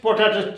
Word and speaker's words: potato: As it is a trisyllabic word, your accent should be on the middle syllable. Potato. P-O, sorry, po-ta-to. Okay? Then where should we give the accent? Ta. Here the accent should be given. Potato, not potato. Potato. P is almost inarticulate and to is also inarticulate, and the stress is given on t, potato.